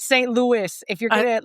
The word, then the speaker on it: St. Louis: So, it's St. Louis. If you're going to like, you got to make it sound very American.